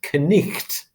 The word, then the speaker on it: knight: time so if you take knight as in a knight in shining armor if you were riding around in the 14th century that would have been pronounced connect like that and so what's happened